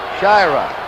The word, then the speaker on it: Shyra: We've had some calls about the pronunciation of Shyra. We asked him yesterday and he said it's Shyra. Shyra some calling. We're going along the way he wants it.